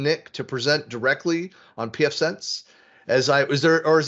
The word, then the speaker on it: pfSense: correct in my pronunciation is it sense no it's not sense no it's pf sense okay yes very very